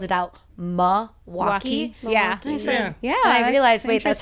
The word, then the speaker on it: Milwaukee: Milwaukee without the L is people locally like myself will slip on Milwaukee all the time. Whereas if you're outside you're like it's Milwaukee.